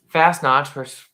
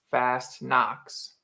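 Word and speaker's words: Fastnacht: So fast knots, fast knots pronounced fast knocks.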